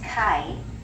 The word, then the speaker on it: kai: So the A-I together, they just kind of put the A sound and the I sound kind of smushed it together, and they got ai. This is kai, which is C.